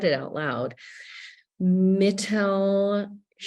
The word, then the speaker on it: Mittelschmerz: Mittelschmerz. Mittelschmerz.